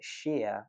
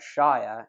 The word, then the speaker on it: shire: We pronounce it shire when it's the suffix, for example, Wiltshire, but shire if we're referring to it on its own, like the Shire from The Hobbit.